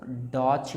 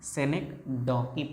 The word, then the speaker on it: synecdoche: बहुत सारे बच्चे इसको डॉच भी पढ़ेंगे, डॉच नहीं पढ़ना है, synecdoche पढ़ना है।